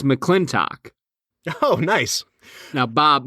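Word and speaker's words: McLintock!: It's McClintock.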